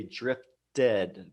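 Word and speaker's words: drifted: read we say murmured but here with drift we say drift dead because it ends with T and then we have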